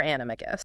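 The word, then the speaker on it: Animagus: So, for the record, for this deep dive, we are sticking with a hard G for animicus.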